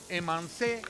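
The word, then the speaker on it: emincé: Lo vas a encontrar en las recetas como emancé, que se escribe emince.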